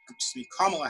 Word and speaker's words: Kamala: issue is what um kamal harris kamala harris everybody had been mispronouncing her name forever uh she yes she